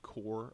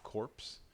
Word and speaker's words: Corps: that word up there a lot of times it gets mixed up people want to pronounce it corpse it's only corpse if it has an e on it a corpse is a dead body a core is a group of people and so the core